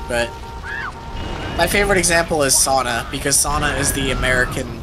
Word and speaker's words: sauna: the OG pronunciation is sauna I hate it I mean that's the original word it's a Finnish word it's not an English word still hate it it's